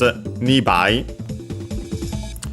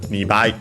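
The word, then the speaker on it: 二倍: It's always unaccented, so quite convenient, and because it's easy to remember, there aren't exceptions. And so yeah, Nibai.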